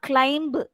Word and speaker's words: climb: Okay, when it ends with MB, it's not climb, it's climb. Ein, tomb, thumb, plumber, plumber. Thus, B should not be pronounced.